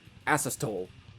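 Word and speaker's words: Asystole: pronounced that correctly because it's pronounced a-s-y-s-t-o-l-e asses tol yeah they apparently and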